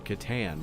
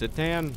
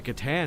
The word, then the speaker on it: Catan: for saying words wrong, I thought it was actually pronounced Citan, which, okay, cool, might be, I take it back, I'm gonna say it right from now on.